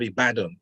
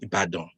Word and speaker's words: Ibadan: He was a national hero, fought a big fight in the city of Ibadan in Nigeria, or Ibadan. Let me pronounce that properly.